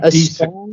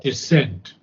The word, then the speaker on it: descent: strong descent descent descent okay not desent but descent okay a strong descent